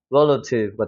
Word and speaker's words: relative: 여기 세게 읽으니까 알파벳 E가 강세가 들어가면 에 발음이 나는 경우가 많아요. 그래서 rel 하고 세게 찍어주고 여기는 어떻게 돼요? 수화 발음 약해지니까 relative가 되는 거죠. relative. 알겠죠? relative.